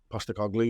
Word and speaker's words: Postecoglou: Yeah, Postecoglou, yeah.